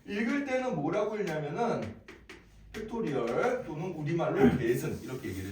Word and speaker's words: 팩토리얼: 읽고 아 느낌 느낌표 기호로 쓰고 읽을 때는 뭐라고 읽냐 그은 팩토리얼 또는 우리말로 계승 이렇게 얘기를 해줍다 어 자